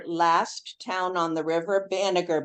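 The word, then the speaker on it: Banagher: Banager. B A N A G H E R. And it's spelled there right on the um thing.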